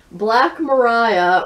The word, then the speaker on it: Black Maria: I mispronounced this before, but it does in fact say at the very beginning of the volume, Black Mariah rhymes with pariah, slang meaning a police wagon or hearse.